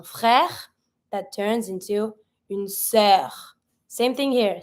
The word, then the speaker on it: sœur: That turns into une sœur. Same thing here. Sœur finishing with the R. I pronounce my R.